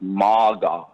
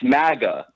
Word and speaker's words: MAGA: the hell from America pronounces anything like MAA it's Maga it's Maga you can tell baked